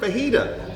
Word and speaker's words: fajita: Just say the word fajita. The J is silent.